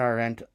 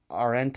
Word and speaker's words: Arendt: gives things legitimacy and Hannah Arend um our end I think is how it's pronounced argues the opposite and